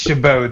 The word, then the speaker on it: Chabot: Steven, you say it's Chabot. The T is silent.